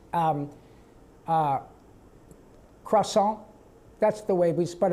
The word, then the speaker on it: croissant: Um Uh croissant. That's the way we But if you if en français, it's qua-sont. If you say en français, it's qua-sont, right?